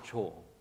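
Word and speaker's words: 조: this is bird and you would pronounce it cho and so bird's eye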